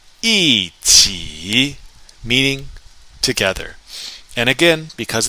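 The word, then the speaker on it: 一起: 一起, 一起, meaning together.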